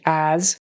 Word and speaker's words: as: word as again uh pronounce it like a z as we swiftly zoomed fast